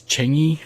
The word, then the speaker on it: Changi: jewel at Changi Changi I always pronounced this wrong I've been corrected by locals from Singapore more than once I think it's Changi I hope that's right um maybe it's not